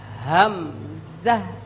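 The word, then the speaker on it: همزة: আমরা দেখতে পাচ্ছি আমি শুরুতেই এই হরফের নামটি উচ্চারণ করব আপনারা সকলে আমার সঙ্গে একত্রে একসাথে বলবেন হামজাহ হামজাহ হামজাহ হামজা হামজাহ হামজা এই হরফটি কোন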